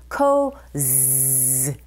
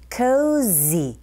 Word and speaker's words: cozy: cozy 하실 때 우리말처럼 그냥 지읒이 아니라 여러분 cozy 벌이 지나갈 때 나는 소리처럼 z cozy 이걸 느끼시면서 발음하셔야 돼요. 해볼게요.